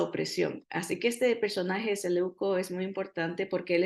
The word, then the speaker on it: Seleuco: Y estas palabras, estos nombres que son griegos, a veces le quiero dar el acento en otra parte, como Seleuco, pero Seleuco, así que el Señor